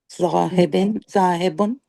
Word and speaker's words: ذاهب: Sister Razia, when you're pronouncing this letter, where is the tip of your tongue? On the roof of the mouth. ذاهب. It shouldn't be on the roof, like it should be touching your front teeth.